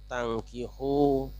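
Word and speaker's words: تَنكِحوا: Pada ayat ini ada dua kata yang hurufnya sama tetapi cara membacanya berbeda, yaitu tangkihu dan tungkihu. Yang satu wazannya fa'ala yaf'ilu, yang kedua wazannya af'ala yuf'ilu. Di situ beda.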